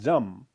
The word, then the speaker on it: Jam: interchangeably make mistake so there's no DZ in s in in Sanskrit there's only J that's a so J A is the as the initial of jambala okay so the C syllable is Jam because consonant is J and vowel is um so therefore Jam j a m yeah